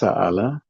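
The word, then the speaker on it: سَأَلَ: Yang atas sa'ala, yang bawah su'ila.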